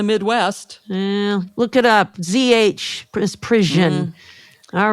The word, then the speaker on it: misprision: And here in the North, we say misprision, not misprison, but everything else is good. No, in misprision. I say misprison, and I'm in the Midwest. Look it up. ZH, misprision.